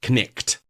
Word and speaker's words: knight: So, you know, the word knight as in k n i g h t was pronounced connect.